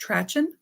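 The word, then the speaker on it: Trachten: This jacket is, and I don't think I'm going to pronounce it right, but I think it's pronounced Trachen in German, which is kind of a style.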